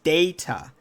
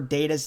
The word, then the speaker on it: Data: when he did so he pronounced it the british way saying the name as data the table read the table read carried on as normal but stuart had actually just made a choice that would affect more than just the show unbeknownst to stuart roddenberry had actually meant for data's name to reflect the american pronunciation of the word it should have been read as data but as it wasn't